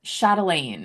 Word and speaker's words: Chatelaine: How do you pronounce the name of that magazine? Chatelaine.